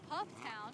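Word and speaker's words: Pfafftown: Pufftown. Pufftown, that's not wrong. Pufftown. Pufftown. We were told by Pufftown residents, they grabbed me, they did everything but put a gun to me and said it's Pufftown.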